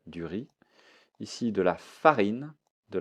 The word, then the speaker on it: riz: du riz du riz je ne prononce pas le Z du riz ici de la farine